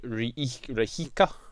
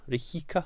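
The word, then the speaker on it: Rijeka: thursday in croatia against n k rahika rihika i think actually if you pronounce it anyway um but what i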